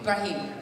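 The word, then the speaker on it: Ibrahim: I don't know IIM ibraim ibraim yeah it's like Abraham but it's Arabic I don't have to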